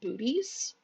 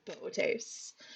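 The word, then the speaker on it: Boötes: So some people, and I myself included in this, will pronounce it booties until I was corrected by a supervisor many, many years ago and told actually it's Bootes.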